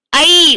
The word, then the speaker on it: ஐ: ஐ உச்சரித்து பாத்தீங்கன்னா ஆவும் ஈயும் சேர்ந்ததுதான் ஐ. ஐ என்பது உச்சரிக்கும் போது ஆ ஓசையில் தொடங்கி ஈ ஓசையில் முடியும்.